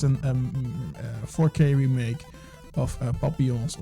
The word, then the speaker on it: Papillons: Let's go to the 4Ks now, and it's an 4K remake of Papillons, or Papillons, however you want. I'm pronouncing it in French Papillon.